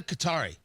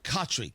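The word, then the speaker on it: Khatri: So, how really ridiculous I found it, insulting, not ridiculous, sad when I see this opinion piece from Sadia Qatari. I'm sorry, Katri.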